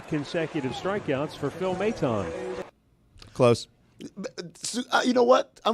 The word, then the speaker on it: Maton: Stugotz, how did you think the Mets reliever's name was pronounced? Madden, last name. Let's hear how it's pronounced. Out number 2, and that's 3 consecutive strikeouts for Phil Maton.